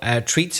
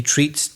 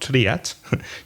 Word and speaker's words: treat: And be careful of the pronunciation, because the spelling is T-R-E-A-T, but the vowel sound is E. So it's treat, not triat.